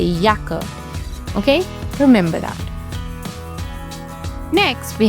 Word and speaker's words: Jacke: have the letter j the letter J is pronounced as yach in German once again yacht and Yacht state for yaka once again yaker yaker means jacket one important